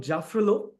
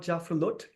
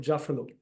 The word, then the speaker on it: Jaffrelot: So that's Christophe JAFFRELOT and not JAFFRELOT, because in French there is a simple rule which says that after the consonant, if there is no vowel, then you don't pronounce it. So it's Christophe JAFFRELOT.